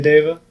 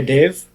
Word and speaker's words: deva: moved on to acharya deva or is it acharya dave well david sanskrit dave is sort of modern languages oh okay they drop a shorty not a long a right like no